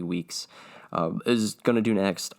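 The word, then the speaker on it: Weekes: you say his name i think i said meeks it's remy weeks uh is gonna do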